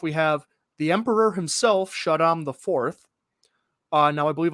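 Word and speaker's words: Shaddam: walken is playing emperor chatham shadom i think it's shadow in the in the lynch movie it's pronounced shadow shot him paul you have got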